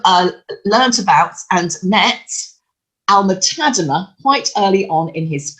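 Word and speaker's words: Alma-Tadema: self-promotion and I know some people want to pronounce it tadema but he's Dutch so I am going for the more straightforward Alma tader and we also have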